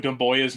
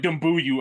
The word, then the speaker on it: Doumbouya: The amount of times it took me to say Sekou Doumbouya's name to be able to say it right. Yeah. I wasn't one of those people like Dumbuyu. I wasn't one of those people because I heard at least one person say that.